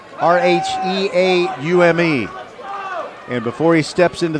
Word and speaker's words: Rheaume: I got the pronunciation from the coaching staff at Strake. It is James Rayum, Rheaume.